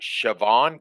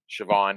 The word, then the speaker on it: Siobhan: That's one of Mm, those Irish names that is spelled completely different than how it's pronounced. yeah. Siobhan is like Siobhan.